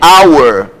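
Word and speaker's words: hour: h é muito então aqui é our o h não tem som como também acontece no português ok no caso português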